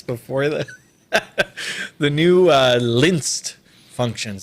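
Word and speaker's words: LINEST: then the new uh linsed functions that's how I'm pronouncing it is lynched um or linist like Linus from from the Peanuts Gang um can you give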